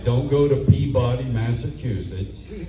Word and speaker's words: Peabody: Like, don't go to Peabody, Massachusetts. Peabody. It's Peey.